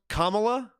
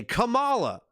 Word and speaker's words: Kamala: It's spelled the same way, but it's pronounced Kamala, right? But I'm an old WWF guy. So when I see that word, I say Kamala.